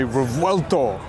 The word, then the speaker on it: Revuelto: There's people out there who said it in the Italian way, Revuelto.